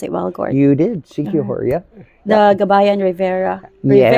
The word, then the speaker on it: Siquijor: Did I pronounce it well, Gord? You did, Siquijor, yeah.